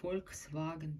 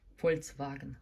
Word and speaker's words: Volkswagen: Представляет завод Volkswagen, то есть неправильно произносят в русскоязычной среде Volkswagen.